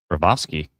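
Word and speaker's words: Bobrovsky: Bravovsky. That's how you pronounce it.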